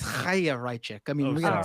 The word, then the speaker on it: Chaya Raichik: Well, we need to say it right. Come on, guys. It's a Jewish name. It's Chaya Raichik.